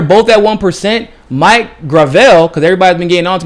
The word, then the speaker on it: Gravel: at one percent Mike Gravel because everybody's been getting onto me by pronounce pronouncing his name wrong his name is gravel not gravel he's doing better than